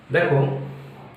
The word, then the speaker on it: the: দি বলছে আবার কেউ কেউ দা বলছে তাহলে সঠিক উচ্চারণ কোনটা দেখো সঠিক উচ্চারণ ওই দুটো ঠিকই যারা দি বলছে সেও ঠিক আর যে দা বলছে সেও ঠিক দুটো উচ্চারণই ঠিক শুধু কি ব্যবহার কোথায়